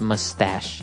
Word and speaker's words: mustache: little bit uh difficult to understand how you pronounce it because it's m u s t a c h e so there's no really sh sound like sh but you pronounce it mustache mustache yeah so that's one kind of facial